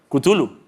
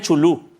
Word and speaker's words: Cthulhu: ¿Cómo se dice Chulu? Cthulhu. ¿Cthulhu? Había gente que decía Chulú. Yo era uno de esos.